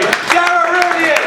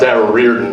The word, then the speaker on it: Darragh Riordan: Darragh Riordan. Put your hands together. It's actually pronounced Darragh Riordan, but I don't blame you.